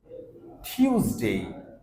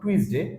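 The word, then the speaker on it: Tuesday: Monday Monday Monday Monday টিউসডে টিউসডে নট টুইসডে sound হবে টিউসডে টিউসডে ওয়েনসডে ওয়েনসডে নট উইকনেসডে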